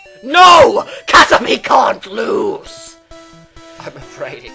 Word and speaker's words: Caterpie: Spelled like pie. No, Caterpie. It's Caterpie. P-I-E. But yeah, it is pronounced Caterpie.